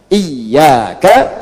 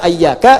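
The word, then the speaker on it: إياك: Iyaka, iyaka, iyaka. Jangan dibaca ayyaka. Jangan dibaca hayyaka dalam salat, ya kan? Dan jangan dibaca iyaka. Dibacanya apa? Iyaka. Ayo baca iyaka.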